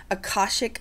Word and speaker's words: Akashic: let's talk about Akashic, or is it, how do you pronounce it? Akashic records.